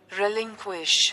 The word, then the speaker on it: relinquish: உச்சரிப்பும் பார்த்துங்க. relinquish.